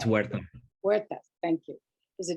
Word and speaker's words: Huerta: Is it the H is silent, but it's Huerta.